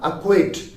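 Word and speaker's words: acquit: you that is a a quit a quit is spelled as a c q u i t a quick again c comes before the letter q so this was another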